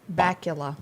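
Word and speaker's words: Bakula: And then Scott, do you pronounce it? Bacula.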